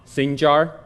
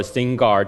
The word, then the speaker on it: Sinjar: The Yazidis people, they were from Sinjar or Singar, depends on how you pronounce it, and this was their home.